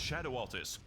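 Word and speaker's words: Scadu Altus: It's pronounced shadow altus.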